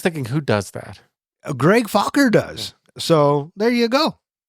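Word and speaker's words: Focker: Oh, just like it's spelled. Fokker. Fokker.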